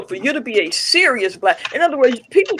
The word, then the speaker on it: Sirius: And it's spelled S I R I U S. So when you hear me say serious, I'm I'm connecting the